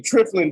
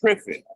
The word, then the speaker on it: Triffin: So what the Triflin dilemma I'm sorry, Triffin. Sometimes I get his name wrong.